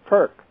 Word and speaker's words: kirk: word that comes from the Scottish word Kirk k i r k could be k e r k but it's spelled k i r k Kirk in Scotland if